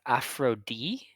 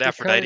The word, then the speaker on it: Aphrodite: yeah so is it is it pronounced afro D or what the team a I call it Aphrodite because that's that's what the goddess's name is yeah like that's the